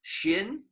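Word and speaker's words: 心: it in the pinyin it spelled xin shin and shin is the word for heart but it's also the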